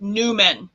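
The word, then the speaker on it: númen: West, it looks like an M with extra curl, and it's pronounced Numen. So we'll make the M, and we'll hold our hand in Fear Not Mudra, and we'll intone Numen now. Numen.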